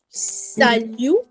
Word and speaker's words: salutation: Le salutation.